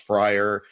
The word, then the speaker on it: Fryrear: It had a different spelling, but it was pronounced Fryer. It was Fryrear, but pronounced Fryer.